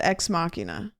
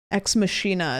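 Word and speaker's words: Ex Machina: Why do I call it Xmachina? Isn't that an anime or something? Exmachina is how you say this one.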